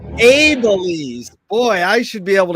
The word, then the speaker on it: Abeles: Now, you pronounce it the correct way, please, Kim. Abeles. Abeles.